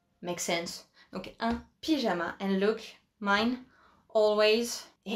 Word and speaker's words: pyjama: Yes, again, it is the English word pyjama, just with the French pronunciation, right? Makes sense. Donc, un pyjama.